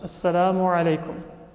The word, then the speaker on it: Assalamu alaykum: Many times you say it quickly, Assalamu alaikum, or even shorter than that. It becomes a contraction. But in Arabic, all of the letters should be pronounced. Assalamu alaykum.